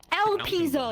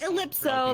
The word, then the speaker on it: Elpizo: my mind so funny el pizo not ellipso like chat i'm reading